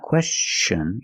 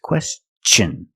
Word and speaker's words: question: pronunciation of t n when TI n is after an S then it's pronounced differently it's pronounced with the CH sound the hard CH sound like chicken and change with words like this question it's not question it's question use the hard CH